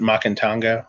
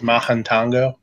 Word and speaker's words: Mahantango: my town was the Mahantango. A lot of people pronounce it Macantango, but it was Mahantango.